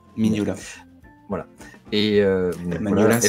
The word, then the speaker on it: Mignola: le prononce. Mignola.